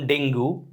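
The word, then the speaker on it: dengue: হু is suffering from ডেঙ্গু যদিও ডেঙ্গু উচ্চারণটা হলো ডেঙ্গি আমরা পড়ি ডেঙ্গু ড্যাশ দিস মেডিসিন এখানে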